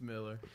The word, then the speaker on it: Millar: us the real answer is it Miller or set the record straight it's Miller okay now is that any background on that with your family do you have you met anybody else with the a Miller uh no the only a Miller I've ever